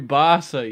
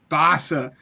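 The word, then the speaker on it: Bassa: So, uh, number seven for me is, uh, Jeffrey Bass. Is that how you pronounce that? Jeffrey Basa. Yes, I'm excited. Basa, that's what it is.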